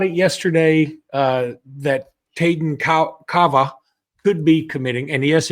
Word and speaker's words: Kawaa: So Jimmy, we talked about it yesterday uh that Taden Ka Cava could be committing. And yes, it is spelled with a W, not a V, but it's pronounced V, not W.